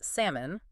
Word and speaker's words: salmon: like that listener story you this listener uh shared that they pronounced salmon with a really clear olive sound for years.